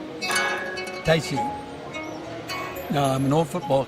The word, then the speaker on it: Taiji: Actually, it's better pronounced Taiji. So next time you're at a cocktail party, you say Taiji, you don't say Taiji.